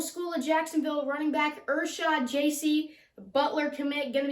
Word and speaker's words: Ershod Jasey: I'm here with Ershod Jasey. That is how you pronounce it, right?